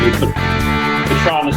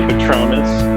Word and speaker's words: Petronis: Petronis is the way I say it. Some say Petronis, but Petronis is correct, yep.